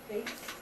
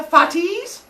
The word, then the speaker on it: Fate: And good job not trying to pronounce it the Greek way. Because I have some kids who try to pronounce it Greekly. They're like, the fatis? I'm like, what? Like, the fatty? I'm like, no, you're just fat shaming them now. And so it's just the fates, and there were 3 of them.